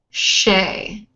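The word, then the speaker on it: Che: My name is Shay. C-H-E, pronounced Shay.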